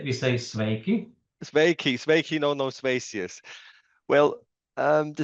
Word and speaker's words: sveiki: Yes, we say sveiki.